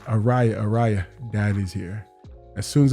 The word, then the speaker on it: Ariyah: I said, Ariyah, Daddy's here.